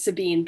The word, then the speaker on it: Sabine: So we're going to start with, now I have Sabine, as Jaws is pronouncing your name, but is it Sabine? Yes, it's Sabine.